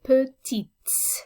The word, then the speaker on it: petite: Feminine singular, if I'm just describing one woman or girl, then I would say petites. So the S on the end is pronounced now.